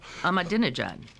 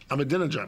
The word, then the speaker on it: Ahmadinejad: And be like Ahmadinejad, or however you pronounce his name, and I'm embarrassed I don't know how. Ahmadinejad. Ahmadinejad.